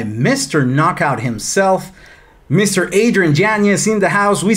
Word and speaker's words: Yañez: Yañez. But hey, look, if you're all about the Hispanic heritage and like the pronouncing it correctly, yes, please do that for